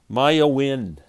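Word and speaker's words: Maiah Wynne: name is maya oh lord help me here maya wind it's spelled m-a-i-a-h when w y n n e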